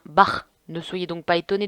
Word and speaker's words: Bach: aujourd'hui concerne la famille bach parce que oui je voulais des plus tôt bac étaient allemands du coup ça se prononce pas bac mais bien barre ne soyez donc pas